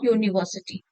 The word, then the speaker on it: university: The um, a university will not be an university, it will be a university, a unit. Though it is beginning with a vowel, but is pronounced with a consonant sound U, Y-O-U.